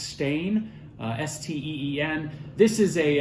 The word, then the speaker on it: Steen: blanc is grown it's also known as uh steen or i think it's pronounced stain uh s-t-e-e-n this is